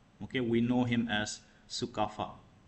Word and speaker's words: Sukapha: The first king of Aomes is known as Sukafa. Okay, we know him as Sukafa, right? The pronunciation was a little different when they came, but now everyone calls it Sukafa, right?